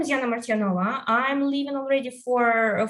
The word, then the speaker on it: Martyanova: So my name is Yana Martyanova. I'm living already for 5 years in Poland, and that's why I told Martyanova and not Martyanova. I already got used to Polish pronunciation, I believe.